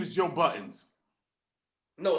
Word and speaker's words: Budden: First of all, it's Budden. His name is Joe Buttons. As I'm pressing the buttons on my camera or my computer. Now, because of reality TV, when they had to spell it, he spells it Budden, but it's Joey Buttons.